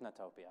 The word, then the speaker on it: Nutopia: Nutopia? It's not Newtopia? We're going to stick with Nutopia, all right?